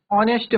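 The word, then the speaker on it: honest: बट एच हमारा mute है। Mute है मींस साइलेंट है एच।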